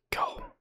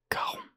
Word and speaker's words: Charon: Charon. Prononcez Caron. Répétez avec moi. Caron. Caron.